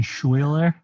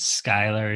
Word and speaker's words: Schuyler: out of that sorry sch is like how you spell school so it's schuyler not skylar why you call it